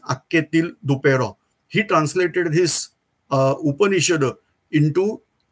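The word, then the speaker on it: Anquetil-Duperron: Spelling is something different, but the pronounce of that spelling is Akketil Duperron.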